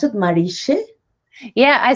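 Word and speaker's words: Mariche: How do you pronounce it? Marische? Yeah, I say Marika. Marika.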